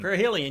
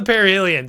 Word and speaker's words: perihelion: the year, which is called the perihelion. Parhelion. Yes. Yes. I'm bad at pronouncing words there. So yeah, it's the perihelion.